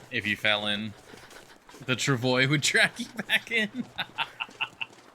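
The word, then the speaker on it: travois: The Travoy would track you back in. Yeah. As far as I know, because it is French, the correct way to pronounce it is Trovo, I believe.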